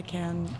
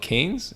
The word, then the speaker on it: Cannes: so we were like, is it called Canes? Canes? Cannes. Cannes, sorry. I think Cannes is like the proper pronunciation, and I think Cannes is like the Calgarian pronunciation.